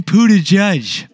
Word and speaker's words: Buttigieg: Third was the politician Pete Buttigieg. You mean Buttigieg. I think I'm still mispronouncing it, but that's actually you're the right pronunciation.